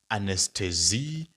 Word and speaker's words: Anästhesie: Now you can see there's an umlaut there. Now becomes ane. Anes, and then tesi. So that is anesthesie technische. So if it's a female, it's anesthesie technische.